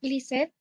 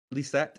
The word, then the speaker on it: Lisette: Is it Lizette? Is that how you say your name? Yeah, I think it's close. Yeah. Well, I'm okay with being close, but I'd rather be right. So what's your actual name? How do you say it? Yeah, it's Lisette. Lisette.